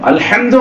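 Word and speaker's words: الحمد: அடுத்தபடியாக அல்ஹம்துலில்லாஹி ரப்பில் ஆலமீன் ஹா சொல்லணும் தொண்டை நடுவுல இருந்து உச்சரிக்கணும் நம்ம ஹா வந்து சொல்றோம் சில ஆளு அல்ஹம்துலில்லாஹ் அல்ஹம்துலில்லாஹ் நெஞ்சுல உச்சாரிக்கிறாங்க அர்த்தம் மாறிடும் அல்ஹம்து அப்படின்னு சொன்னா அனைத்து புகழும்னு அர்த்தம் அல்ஹம்துன்னு நம்ம உச்சரிச்சோம்னு வைங்களேன் அனைத்து குப்பைன்னு அர்த்தம் நவுது பில்லாஹி அனைத்து குப்பையும்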